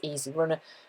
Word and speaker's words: EZ Runner: called an ez runner pronounced i think it's easy runner grand um it's fabulous